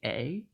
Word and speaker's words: Aodh: Actually, they want to name me A.